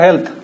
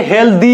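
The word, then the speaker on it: healthy: Walking is good for হেলথ এর উচ্চারণ থ, অনেকে হেলদি বলে, দি না, হেলথি, ফিলথি, ওয়েলথ, হেলথ, ফিলথ, থ।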